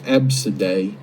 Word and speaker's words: Abcde: not be using a abcde that's uh i believe pronounced absidae but that's not a